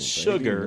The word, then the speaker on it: Shhugar: And it's called Sugar. Baby Nova. But it's spelled SHHUGAR. So it's like sugar.